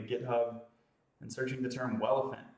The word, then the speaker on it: Welephant: You can find that by going to GitHub and searching the term Welephant. That's spelled like an elephant with a W at the beginning.